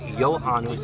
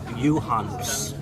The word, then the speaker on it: Johannes: been saying lil Hannes it is not Johannes it is you Hannes Johannes I'll never learn